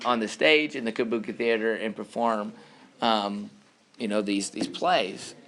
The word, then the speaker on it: Kabuki: Everybody say Kabuki. It's spelled K-A-B-U-K-I. K-A-B-U-K-I. However, again, only men, because of the rules of their culture, were allowed to participate.